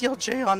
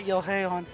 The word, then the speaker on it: Yeljeon: You tell them to hold on to the little girl, and Yeljeon replies, "It's pronounced Yeljeon, not Yelheon."